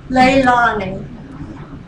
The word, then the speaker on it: Leilani: want to introduce Comrade Leilani. I want to tell you, see the first syllable, L-E-I, like the lei that the Hawaiians have around their neck? That's how her name is pronounced, Leilani.